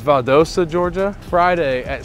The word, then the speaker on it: Valdosta: bit of a promo we're going to it's pronounced valdosta georgia friday at 6 00 p.m so be